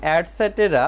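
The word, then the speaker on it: etc.: বর্ণটি বড় হাতের হবে ইটিসি এর উচ্চারণ অ্যাডসেটেরা মানে ইত্যাদি এভাবে অন্য মাসগুলো একইভাবে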